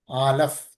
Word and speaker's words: Aleph: and it has a sound of A and A. आलफ जो है पहला अक्षर है और ये आ और ए का शब्द की ध्वनि हमें सुनाई देती है. And also the Aleph is a silent letter.